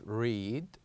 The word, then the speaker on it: read: So here we have, yes, they are the same letters, but they have different sounds. With the first one here, we pronounce or we produce a longer sound. We said read. But with the second one, we produce a shorter one. We said head.